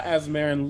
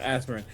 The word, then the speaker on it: Azmarin: How dare you, in the year of my Azmarin Lord? I said it wrong, Azmarin.